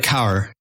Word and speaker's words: Kaur: This is came to us through Valerie Kaur's work. So yeah, please go ahead, Dave. Yeah. How do you say her name? Kaur? No, it's like Kaur.